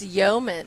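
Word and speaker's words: Yoeman: it's a yo it's Yeoman the Yeoman and it's not the Yeoman like on a ship it's spelled uh y-o-e instead of y-e-o yo baby well what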